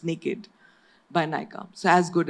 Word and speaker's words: NYKD: And we started conceptualizing this brand, which is called NYKD by Nykaa, and it's actually pronounced naked by Nykaa.